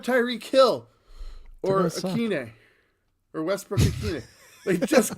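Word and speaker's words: Westbrook-Ikhine: I'm not sure how to pronounce the Oh, hyphenated- Nick Westbrook Akine. Akine.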